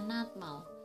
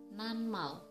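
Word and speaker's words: 낱말: Seharusnya dibaca natmal, tapi yang benar dibaca nanmal.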